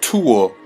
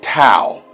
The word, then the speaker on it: tau: merica the T symbol that you keep mispronouncing as tool is tau tau in the Greek tour means yes in y'all language get yourself together man stop running down here making yourself look ignorant the towel is not tore and then you can